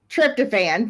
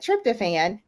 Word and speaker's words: tryptophan: And tryptophan, thank you. I knew I wasn't going to be able to say the word. It looks different than it's spelled, but tryptophan.